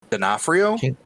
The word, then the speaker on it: D'Onofrio: D'Onofrio? D'Onofrio, thank you. Whatever is that you pronounce his name.